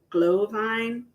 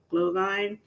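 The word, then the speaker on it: Glühwein: how it's spelled um but I think it's actually pronounced glow glow Vine glow Vine and you're supposed to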